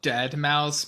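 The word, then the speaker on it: deadmau5: so according to this it's called dead mouse but it's spelled d-e-a-d-m-a-u five like the number five yeah and and um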